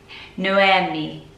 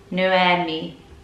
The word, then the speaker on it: Noemi: Noemi. Noemi. So pretty. The reason I'm struggling with this is because my sister is called Naomi, which is still quite rare, more popular in the UK than Noemi.